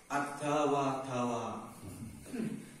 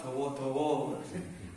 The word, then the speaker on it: الداء والدواء: Ada wadawa. Kita apa? Kita dawa-dawa. Ada wadawa padahal itu bacanya.